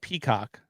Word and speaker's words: Peacock: First of all, I said Peacock, which is the network. You're kind of giving a lot of emphasis to the second part, to the last syllable of that word.